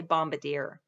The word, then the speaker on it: Bombardier: vehicle did jay armand bombardier that's not how we pronounce it in yellowstone we say bombardier anyway did he make